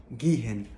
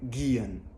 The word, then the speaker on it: gehen: ديت اوعى تنطق حرف الهاء اللي في النص، لا مثلا ما تقولش جيهن او زيهن او تسيهن، لا دايما حاول تختصر الكلام ده كله واعمل جيان. جيان او زيان.